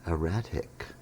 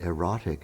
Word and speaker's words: erratic: And she said, "Tom, I think you meant erratic." But you thought that if you pronounced it erotic, it sounded more British, right?